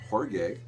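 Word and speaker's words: Jorge Ben: know this one but George Ben uh tropical George Ben or horge depending on how you want to how you want to pronounce it but I I'll call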